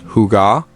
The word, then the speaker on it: hygge: Hygge as a foundational tenet of Scandinavian culture, pronounced Hygge.